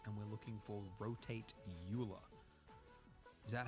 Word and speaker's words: Euler: righty Swiss basil Swiss all right cool man Oiler is how we're supposed to pronounce your name but you're dead so you